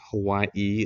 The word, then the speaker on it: Hawaii: and that represents a glottal stop in their language, which is why Hawaii is sometimes pronounced with a break between the two I's.